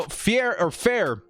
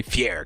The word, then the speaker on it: Fair: Now, Fair, it's almost hard not to say Fier because he has the way his name is spelled.